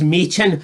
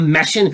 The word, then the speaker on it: Michin: Her name's Michin, not Mission. Where the fuck are you getting Mission for that? You doted fucking bastard. Where's Mission from that? It's Michin.